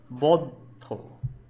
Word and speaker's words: বদ্ধ: থাকবো না কো বদ্ধ, উচ্চারণ হচ্ছে কি বদ্ধ, মানে দুবার কিন্তু আসছে বদ্ধ।